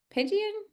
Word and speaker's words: Pigeon: presenter for tonight, Pigeon. I have never said your last name. Is that how you say it? That is correct. Just like the bird, even spelled the same.